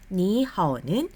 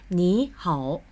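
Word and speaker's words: 你好: 자, 그렇기 때문에 여기서 니하오는 앞에 니를 삼성으로 발음하지 않고 이성으로 발음합니다. 그래서 니하오, 니하오.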